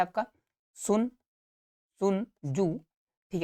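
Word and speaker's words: Sun Tzu: क्या है आपका सुन सुन जू ठीक है टी साइलेंट है सुन जू द आर्ट ऑफ वार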